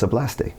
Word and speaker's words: hablaste: They can figure out where to put the emphasis. They just naturally hit the right vowel. They're like, hablaste? I'm like, yeah, it's hablaste. Oh, okay, that's not that hard.